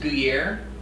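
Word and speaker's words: gougères: hey dr damian so i believe it's pronounced guiller so the second g is kind of like a kind of like a y and in true uh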